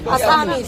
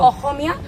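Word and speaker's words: Asamiya: असामीज, असमिया, it's called असमिया। And English में अगर pronunciation होगा असामीज, और हिंदी में भी मतलब असमिया।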